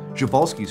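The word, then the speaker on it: Przewalski's: horse that's still around is an endangered subspecies javalsky's horse also known as the taki or mongolian wild horse and i'm pronouncing it that way because that's how sir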